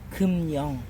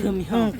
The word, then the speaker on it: 금영: 발음의 유의 금영. 금영. 우리 노래방하면 금영 노래방 기계 있죠. 내가 하는 건 금형. 금. 금형.